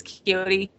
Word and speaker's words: Quixote: Like Quixote would be the way you would spell it, Don Quixote, but it's Quixote.